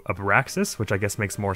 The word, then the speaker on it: Abraxas: you or abeksha okay it's spelled a b r a x a s and i don't know why my mind always looks at it and says abriksha as opposed to a paraxis which i guess makes